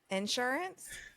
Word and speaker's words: insurance: It's the emphasis you're putting you either put an emphasis on the in or the su.